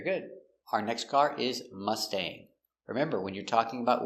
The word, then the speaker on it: Mustang: I want a new Mustang. I want a new red Mustang. So remember with the word mustang we have a g. Aing g always makes the long a sound like angry or sang.